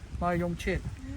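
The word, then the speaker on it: มะยงชิด: ชิดสวีท So นะ if you try to pronounce this mayong chit, just think in English. My Own own shit. So if you say it fast, my own shit.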